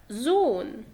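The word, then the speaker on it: Sohn: او مثلا تاني حاول انك تقرأ هنا الهاء هي قبلها متحرك وبعديها ساكن، فهيبقى زون.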